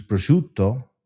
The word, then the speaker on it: prosciutto: Prosciutto with the O at the end, no prosciutto, finish with the T, no.